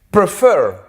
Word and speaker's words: prefer: Prefer, preferir, tiene 2 sílabas. Prefer. La mayor fuerza de voz, ¿dónde está? Al final. Prefer. Yo no digo prefer.